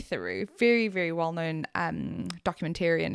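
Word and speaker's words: Theroux: influences that he follows calls him Louis Thorox. Thorox. Doesn't even pronounce his name. Who does Louis Thorox guy? Yeah. Who does Louis Thorox guy? Anyway, it's Louis Thuru.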